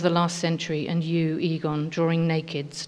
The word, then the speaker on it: Egon: resonates with your ambitions as in aegon sheila to pull a knickers down except you pronounce it egon damn plus women didn't